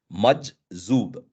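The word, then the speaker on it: مجذوب: In Hindi, it's written as Majzoob. So it's Majzoob. So there is a j sound and a z sound as two different words. I mean, two different letters.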